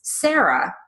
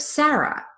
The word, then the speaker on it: Sarah: one is not right one is not wrong the vowel in that word changes due to a regional dialect if you know that